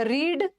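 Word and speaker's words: read: land land bend का मतलब है झुकना बेंट बेंट और रीड का तीनों सेम होगा लेकिन उच्चारण अलग हो जाएगा रीड रेड और रेड स्पेलिंग तो सेम है बट प्रोनंसिएशन अलग होगा कोई भी टेक्निकल इशू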